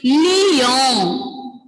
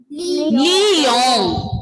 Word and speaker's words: Lyon: Ensuite, the second city is Lyon. Lyon. Ending letter N will be silent. Lyon. Like the pronunciation of lion. Like the pronunciation of lion. It is same. Both pronunciation is same.